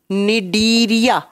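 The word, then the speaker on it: Cnidaria: वाले फाइलम को लिखिए डीरिया लिखा जाता है सी से प्रोनाउंस किया जाता है एन से डीरिया फाइलम दो नंबर पर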